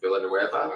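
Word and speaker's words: Villeneuve: stuff and so this guy the director dennis villanueva that's how it's pronounced he's directs sort of similar to how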